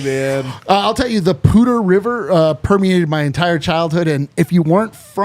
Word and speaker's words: Poudre: I'll tell you, the Pooter River permeated my entire childhood, and if you weren't from Fort Collins, you thought it was spelled like Pooter.